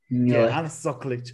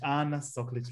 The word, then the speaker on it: Ana Soklič: Anna Soklič. Anna Soklič. Listen, guys. This is how you pronounce the queen, okay?